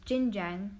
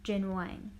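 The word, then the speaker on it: Jin Wang: student he is highly discriminated his teacher unknowingly pronouncing his name is Jin Jiang rather than jinhwan he also states he and his family moved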